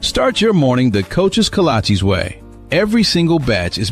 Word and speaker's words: kolache: What's a cola, AJ? Oh, cola cheese? Kolache? Kalashis? Kalashi? Like the shoes? No, that can't be right. It's kolache, but it don't matter what